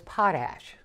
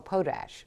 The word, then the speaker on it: potash: the last number is potash a podash depends on what part of the country how you want to pronounce it either is correct and that's potassium so